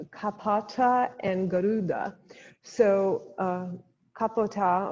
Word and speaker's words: Kapota: and garuda so uh kapota or kapita i believe it's pronounced is um was a